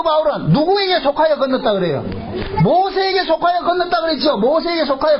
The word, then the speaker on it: 모세: 참 재밌는 것이 그 모세를 애굽의 발음으로 이야기 하지 않고 히브리식 발음으로 이야기할 때 모세라 그런다 모세 그 모세라는 이름이 될